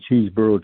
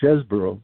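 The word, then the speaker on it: Chesebro: of the heang he he had a fight for his name has be pronounced chesboro because you know everybody's under the influence of Jack cheeseboro now and and and and I I don't think chesboro pronounced his name that way it was a player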